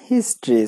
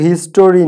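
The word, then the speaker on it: history: ইন দা হিস্ট্রি। সো এখানে আমরা বসাবো ইন দা হিস্ট্রি, এটা কিন্তু হিস্টোরি না, হিস্টোরি না, হিস্ট্রি।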